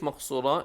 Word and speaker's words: Maqsura: So we have to be very careful that they pronounce the word Maqsura as it should be, which is with the Qaf, heavy, and the Sad, which is heavy as well.